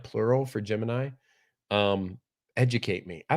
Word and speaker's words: Gemini: Jim and did.